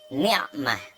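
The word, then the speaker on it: نعمة: Saya ingin mengucapkan kata ni'mah. Ni'mah ya. Ini pakai ain.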